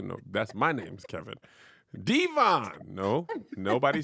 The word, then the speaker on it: Devon: His name is Devon, not Devon.